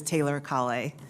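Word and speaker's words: Taylor-Kale: thank you chairman reed actually you correctly pronounced my name is taylor colley you know as as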